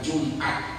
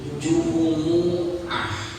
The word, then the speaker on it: Jumu'ah: Tapi kalau itu terkait tentang rukun dalam sholat termasuk niat, bukan Jumat tapi Jumu'ah, bukan terawih tapi tarawih.